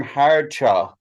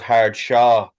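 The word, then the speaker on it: hard chaw: Gary go ahead the the term hard cha yeah right which is spelled hard H Rd and c a w I always thought it was hard Shaw s a w but it's where did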